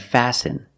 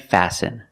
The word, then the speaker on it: fasten: And fasten. Example, fasten your seatbelt. Fasten is a verb, and the T is silent.